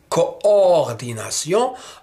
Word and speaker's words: coordination: Quand on dit coordination, on comprend exactement qu'il s'agit de deux O. Co-o. Il y a deux O. Coordination.